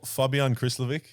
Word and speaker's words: Fabijan Krslovic: I need to know the proper pronunciation of your name, the way you would say it, not the way everyone else says it. Well, Fabian Chryslovik is is pretty good, but if you want